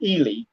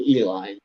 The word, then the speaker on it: Ely: window and it goes to ely either or eli it's it's e-l-y but jennifer might know the correct pronunciation but but 93 goes down to ely and then it crosses 50.